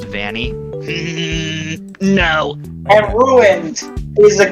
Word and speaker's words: Vanny: Adam, sir, it's pronounced Vanny.